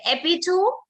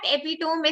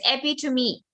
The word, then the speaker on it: epitome: Is it epitome? How many of you will pronounce it as epitome? Type down yes. Oh God, it's not epitome, it's epitome. Epitome.